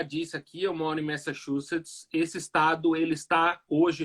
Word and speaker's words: Massachusetts: Na verdade, se você for ver a pronúncia certa, você não fala ma, você fala me. Massachusetts.